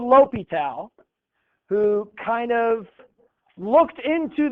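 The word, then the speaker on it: L'Hôpital: if a limit that's how you say it Lal if a limit of some function maybe expressed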